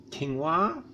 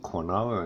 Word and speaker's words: quinoa: good grains things like quinoa I don't used to call it corn or until I heard it said on the by someone that knew how to say it probably quinoa that's that's really good